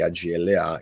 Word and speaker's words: AGLA: Signore, ma in genere si usano le iniziali AGLA, e quindi si pronuncia Agla.